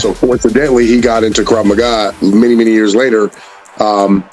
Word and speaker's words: Krav Maga: one of my dear friends oh thank you Krav Maga I'm pronouncing that correctly yes sir it's an Israeli